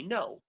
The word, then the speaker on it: know: We say I know. So all words that start with KN, we only pronounce the N. The K is silent.